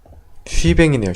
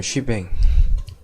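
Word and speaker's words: shebang: 쉬뱅이네요. 쉬뱅.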